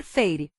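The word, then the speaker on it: Feyre: Ela fixou os olhos arregalados em mim e falou, por favor, Feire. Elaine pronunciou as 2 sílabas de meu nome, Feire, com o choro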